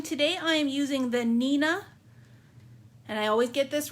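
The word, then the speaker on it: Neenah: You can cut it down if you want smaller pieces to store, but I just really love the Nina paper. And it's spelled Neeanah if you're looking for it online.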